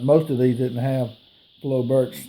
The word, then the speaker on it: Flobert: the name of this rifle is called a flo bur by some people called flo burr but i call it a flo bert because that's kind of